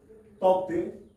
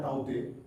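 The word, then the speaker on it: Tauktae: इस चक्रवात का नाम है तौकते या ताउते, दोनों नाम का इस्तेमाल होता है। इंग्लिश में एक ही स्पेलिंग है, तौकते, साइक्लोन।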